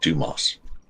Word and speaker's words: Dumas: This guy's name was Dumbass, and he says it's pronounced Dumas.